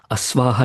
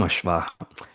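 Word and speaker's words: अश्व: Awah itself has become ashwah. We make fun of people especially Biharis who can't actually pronounce ashwa. They will end up saying awa and we make fun of them.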